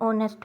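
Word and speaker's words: honest: ठीक है, an apple, an elephant, an umbrella, an ऑनेस्ट मैन, ही is silent.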